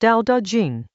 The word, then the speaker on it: Dao De Jing: The Dao De Jing, pronounced Dao De Jing.